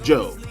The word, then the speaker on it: Job: guy's name is Joe the spell jobs pronounced Joe okay and here's what